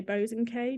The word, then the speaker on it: Bosanquet: though as so as I was just telling you is how you say my name but I say bows and K because I'm a little bit Posh bows and K